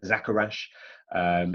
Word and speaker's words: Zacchara: up a lot is actually how you pronounce my ridiculous surname so if that has occurred to you then my name is zacchara if it hasn't well